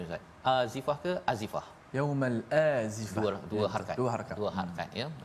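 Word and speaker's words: يوم الآزفة: Ini untuk mengingatkan kepada kita, wa anzirhum, pada ayat yang ke-18, berilah peringatan tentang yaumal, macam mana bacanya Ustaz, azifah ke azifah? Yaumal azifah.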